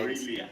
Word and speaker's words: Aurelia: Do you want to try pronouncing Aurelia? Or Aurelia. You have problem with our L and R.